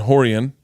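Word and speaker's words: Rorion: that way try that so are you sure it's spelled royce but it's hoys and horian horian yes yes horienten henner hen yeah hyphen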